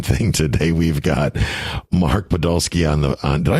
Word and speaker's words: Podolsky: the exact same thing today we've got Mark Podolski on the did I pronounce that right mark you did you know